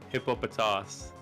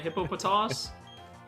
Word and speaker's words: Hippopotas: Hippopotas. Yeah. So, I say hippopotas. Hippopotamus. Well, it's close to hippopotamus.